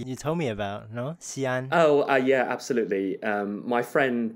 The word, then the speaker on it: Xi'an: Is the proper pronunciation. 对, Xi'an. Yeah, that's like the first story you told me about, no? Xi'an.